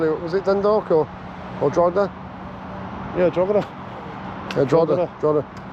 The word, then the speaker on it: Drogheda: I've been told in the comments that's not how you pronounce it. Let me hear. I'm not asking you, I'm telling you, it's Drogheda.